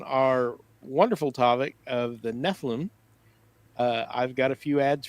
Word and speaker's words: Nephilim: So tonight we're going to be discussing Nephilim, or Nephilim. I've heard it pronounced. So I guess it depends on what part of the world. We're from Kansas, so it's Nephilim.